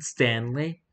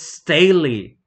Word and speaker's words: Staley: do not know dude are you Lane Stanley don't like that name sake it's Staley and today I found